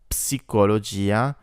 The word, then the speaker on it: psicologia: Psicologia makes a p sound together.